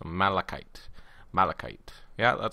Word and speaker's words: malachite: Breadwinner told me that this green stuff is pronounced malachite. So malachite.